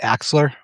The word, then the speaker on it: Axler: Am I pronouncing your last name right? Axler?